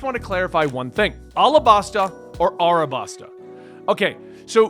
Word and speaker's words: Alabasta: are very fun so basically I called it arabasta in a tweet I was told that it's properly pronounced alabasta in the manga it's spelled alabasta but people